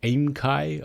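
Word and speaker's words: aemkei: k e i or at aimchi i suppose you pronounce it um but yes i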